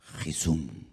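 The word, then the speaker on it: חיסון: dónde la palabra vacuna vacuna en hebreo se pronuncia jesum tiene la misma raíz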